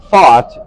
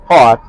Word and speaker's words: Pfaadt: the Texas Rangers against Brandon Pfaadt, is the way that he pronounces that. Pfaadt. Almost like Pfaadt.